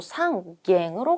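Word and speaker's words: 三軒: 한 채, 세 채, 6채 이렇게 가니까 일단은 한 채일 때는 이치캔 아니고 it캔으로 가는데 세 채일 때는요. 이번에 또 상갱으로 가네요.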